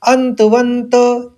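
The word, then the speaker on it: अन्तवन्त: आप इसको पढ़ लेंगे पहले शब्द में अंत दो नौ का उच्चारण लेंगे ऐसे ही दूसरे में व के ऊपर आघात है तो फिर वहां पर भी दो नौ का उच्चारण लेना है अंतवंत इमे देहा दूसरे चरण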